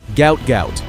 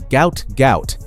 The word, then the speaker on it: Gout: His full name, pronounced to rhyme with pout, was misspelled during his family's transliteration from Arabic. The world knows him as Gout Gout.